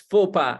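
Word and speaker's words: faux pas: conversations yes it is a full bar to pronounce fopa as fopa Mr grimer another day it's it's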